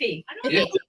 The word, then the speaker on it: Ify: Is it Iffy? It's Iffy. Iffy. All right, IFY is how it's spelled.